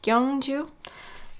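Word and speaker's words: Gyeongju: To me, it looks like it's spelled Gyangju, but I think it's Gyangju. Gyangju.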